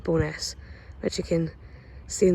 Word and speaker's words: Bo'ness: And for those who don't know, I think the full name for Bo'ness is Barrowstoness, but no one ever calls it that. And it's never written out that way. It's always just written out as Bo'ness, or pronounced as Bo'ness, which you can see